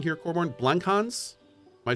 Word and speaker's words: Blankhans: I'm wrong here Corbin blancons am I saying that right I think it's blank Hans yep and if I totally butchered that I severely apologize oh I did say that right okay great great but